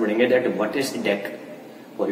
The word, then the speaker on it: deque: अ DQ pronounced as deck और डीक्यू, यानी कि डीक्यू जिसको हम प्रोनाउंस कर सकते हैं डेक या फिर डीक्यू, क्या है?